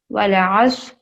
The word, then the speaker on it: والعصر: واو لام زبر ول، عین صاد زبر عص، والعصر، را سے ری.